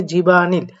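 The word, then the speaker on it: 집안일: কাজ বাড়ির ভেতর কাজ তবে উচ্চারণটা হবে জিবা আনিল আপনারা জানেন যে ভিউটা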